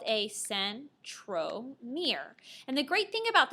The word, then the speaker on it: centromere: name it's called a centromere and the great thing about this term is that centromere sounds like the word Center so if you even